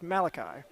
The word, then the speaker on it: Malachi: I've been saying McGovern's first name wrong this whole match. That is Malachi.